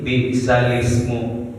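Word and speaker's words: بئس الاسم: sini bacaan goribnya Pak di bisalismu Ya seharusnya kan bisal Ismu ya sesikan bisalmu jadi di sini karena di bacaan gib jadi cara bacanya bisalismu untuk memudahkan ya Pak misalnya kalauorang Arab itu ee untuk memudahkan gitu ya untuk memudahkan cara bacanya jadi bisal seharusnya kan bisal Ismu ya jadi dimudahkan menjadi bisalismu ini namanya Nakel Nakel nalun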